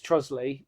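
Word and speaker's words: Trottiscliffe: And obviously the other one is Trosley, which is Trotters Cliff. Originally it's called Trotters Cliff but then they abbreviate it to Trosley.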